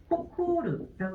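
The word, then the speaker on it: 誇る: 코라고 읽어주시고 그 다음에 얘를 훈독으로 읽게 되면은 호코르라고 읽게 되죠.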